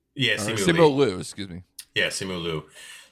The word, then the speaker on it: Simu Liu: And I can never pronounce the guy's name. The guy from Shang-Chi and the Ten Rings. What's his name? Simu Lee. Yeah, Simu Liu, excuse me.